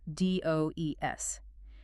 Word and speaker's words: does: D O becomes d o e s. It is pronounced does.